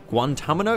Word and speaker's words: Guantanamo: Guantanamo?